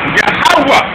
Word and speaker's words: Yahweh: Yahweh, which is Yahweh. The last H is silent.